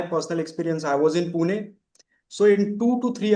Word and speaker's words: Pune: I I'm from I'm from Pune Mah. That's how you pronounce it.